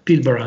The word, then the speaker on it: Pilbara: di un'autorità portuale australiana, il porto di Pilbara, che si pronuncia Pilbara mi sembra, che mostravano proprio l'effetto delle loro politiche di gestione.